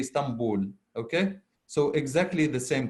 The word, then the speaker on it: Istanbul: but actually we don't we replace the letter n with the letter M in pronunciation so instead of saying stand bull we say Stamboul okay so exactly the